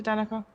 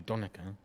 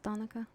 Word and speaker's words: Danika: getting your name wrong we've always called you donaka I've never asked you before wrongly Miss Danica I know a lot of people over here say Danica Danica yeah yeah Danica first